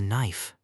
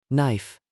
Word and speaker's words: knife: I use a knife. Knife. The K is silent.